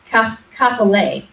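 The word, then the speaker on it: κεφαλή: And the word is kaphale, or actually I'll say it correctly, kaphale.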